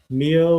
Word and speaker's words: Mio: Mio, like with D-Roy. Oh, okay. Is that how you pronounce? I always called him Mayo.